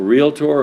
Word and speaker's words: realtor: A realtor, a member of the National Association of Realtors, and of course it's 2 syllables, not 3.